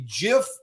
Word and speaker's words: GIF: everyone's pronouncing it wrong i believe 70 of the population still uses gif even though poor stephen said it should be jif what say you guys